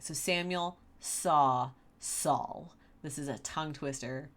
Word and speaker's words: Saul: I'm sorry, I really struggle with Saul, and that's because if I'm not thinking about it, I pronounce the word saw like I saw. So it would be Samuel Saul, which is not right.